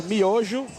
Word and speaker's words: Miojo: Miyoho Daniel Lacerda, which I believe translates to ramen. Is that correct? We pronounce miojo, and this kid just showed what Brazil is, what Brazil fighting is, and that grind.